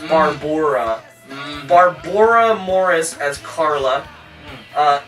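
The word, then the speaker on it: Barboura: have Barbara Morris and her name is spelled b a r b o u r a so that's barbora Barbor Morris as Carla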